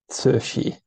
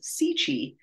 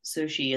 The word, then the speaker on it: Cixi: to pronounce in English it's spelled cixi which is not something that English speakers come across too often I understand it's pronounced Sushi well when I was first researching it the one of the websites told me it was sichi that was kind of what my brain went with So Sushi is rolls off the